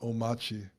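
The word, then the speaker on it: Omarchy: It's spelled like spelled like Omari, but it's pronounced Omachi.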